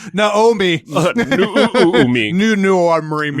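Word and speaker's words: Noomi: me and Rooney yeah until someone someone tells us we're mispronouncing you know new me and it's supposed to be know me mean new new or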